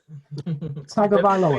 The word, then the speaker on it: Tagovailoa: And does anybody want to have a go at pronouncing his surname? Tagovailoa.